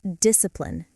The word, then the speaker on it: discipline: First, discipline. Dis-ci-pline. Three syllables. The C is silent.